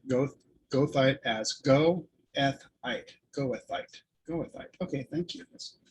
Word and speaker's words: goethite: So Janelle says pronounce goethite as goethite. Goethite.